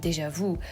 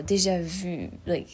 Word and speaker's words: déjà vu: as an example, and so you just drop the last sound of it, you know, déjà vu, like view. Oh, like view too. Well, there's the U that could work, or view, déjà vu, which sounds better than déjà vu.